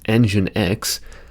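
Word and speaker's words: nginx: Engin, which I've been informed is pronounced engine X, or Apache.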